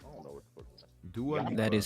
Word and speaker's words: Dua Lipa: Dua Lipa. That is how you. Yeah, I watched the video on how to pronounce her name by her because I was like, how you say this whole No.